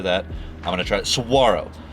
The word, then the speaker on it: Saguaro: I've been mispronouncing this cactus name because of the way it's spelled with a G for at least 4 weeks now.